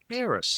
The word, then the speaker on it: Aeris: How do you pronounce that, Ken? Aerys. Yeah, that's what I thought.